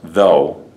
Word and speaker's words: though: they have this Oh ugh so this is pronounced though this is thought there's a T here this